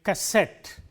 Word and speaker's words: cassette: Let us take words ending in ETTE, words like cassette or cigarette. In all these words, the stress is on the last syllable, cigarette, cassette and so on.